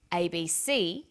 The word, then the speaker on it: ABC: Notice that each letter in the abbreviation is pronounced separately, but the last letter is pronounced more strongly because it carries the primary stress. So we say USA, ASAP, ABC, and TV.